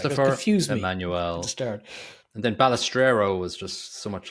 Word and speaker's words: Balestrero: and then Balestrero was just so much like Ballesteros. I was like, Sevi. yeah, it was just Balestrero, and there's an R after the T, so it's not even Ballestero, it's Balestrero.